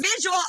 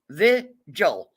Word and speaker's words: vigil: You showed up at our visual unwelcome. Now get out of here. That is such a hard word. That is such a hard word for morons. Vigil. 2 syllables. Vigil.